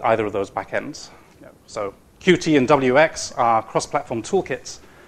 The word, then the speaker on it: Qt: So traits UI uses either WX or Qt backend. I'm told I'm supposed to pronounce it Qt. I can't quite get used to this.